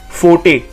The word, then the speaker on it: forte: So it's forte, and it is pronounced as FO-TEI, forte.